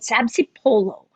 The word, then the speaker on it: sabzi polo: one of your favorite dishes and it's called sabzi polo so tell me why it's one of your favorite dishes while i enjoy it wow what a great pronunciation thank you so much that was great sabzi follow yes didn't i tell you if you tried